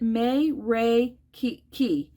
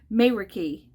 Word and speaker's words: Meraki: to the Expo and they pronounce it may Ray Key May Ricky crafty mayor key and this set is